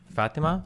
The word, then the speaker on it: Fatima: Is it Fatima or is it Fatima? Oh, it's Fatima. Fatima.